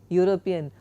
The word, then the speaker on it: European: So a European because although European starts with a vow e the pronunciation is the sound is u. Therefore it's a consonant sound. Therefore we say a European a university not an university.